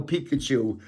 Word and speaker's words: Pikachu: Only one kid didn't even know Pikachu. And I said, it rhymes with Mikachu.